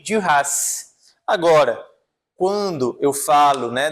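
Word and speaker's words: Duras: Por exemplo, Margherite de Ras, eu pronuncio o S Magu de Rass.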